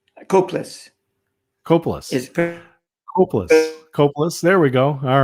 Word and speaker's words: Kopulos: And I'll just let everyone know we are interviewing Barry Kopulos, as I'm pronouncing that correctly. Kopulos Kopulos. is Kopulos.